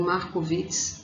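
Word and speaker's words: Markowitz: como modelo de markov o modelo marco obras vocês podem ouvir também markovicz né varia e a questão da pronúncia esse modelo pessoal ele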